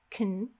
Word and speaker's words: can: So if you imagine just saying a K and an N with no vowel, can, this will usually be the perfect pronunciation. I can go.